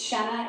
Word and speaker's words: Shenna: And I didn't say, nope, it's Shenna, it rhymes with Jenna.